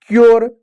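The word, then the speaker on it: cure: लेकिन जब consonant are हो, कॉन्सोनेंट अगर आर हो, तो यू को यू ना पढ़ते ही यो पढ़ेंगे, जैसे श्योर, क्योर, मेच्योर, ठीक है प्यारे बच्चों।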